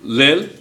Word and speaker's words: Lille: We had a young man in here who told us he's French, and he told us how to pronounce them.